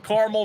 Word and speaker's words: Carmel: I got to know I pronounced carel careli it's not caramel the big debate of Carmel versus caramel tell us